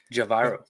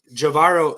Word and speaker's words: Javairo: in the sense of like, did I'm gonna pronounce his name incorrectly. Javaro. Javairo speak to him and ask him, "Hey, what's life like in Mexico?"